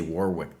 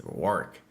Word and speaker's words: Warwick: I'm probably Well, if I say Warwick, they'll be like, "No, boss. That's not the way you say it. It's Warick.